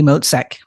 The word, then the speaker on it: Motzek: going say I I might say your last name wrong so can you go go ahead and introduce yourself yeah it's moek yeah and and yes I think I found